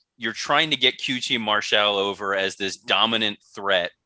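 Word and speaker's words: QT Marcel: this was tony shivani correctly pronouncing his name as qt martial he has finally solidified that he is the french inspector we always knew and this qt marshall was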